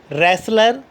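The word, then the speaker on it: wrestler: डब्ल्यू is silent before are. अगर आर से पहले डब्ल्यू आ रहा है तो डब्ल्यू क्या हो जाएगा? साइलेंट हो जाएगा। देखते हैं। Regal, writing, wrinkle, रिस्ट, rack, रैन, रेसलर, रैंच, रिंग।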